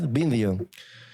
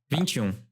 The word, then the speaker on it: Vinteum: Let's let's talk about uh and you're you're pron you pronounce it. It's binding, right? Vindium. Vum. Oh, Vum. Vum. Yeah, that's that's like the Brazil the Portuguese pronunciation.